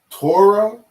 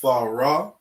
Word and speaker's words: Torah: The proper way to say this word is THAWRAH.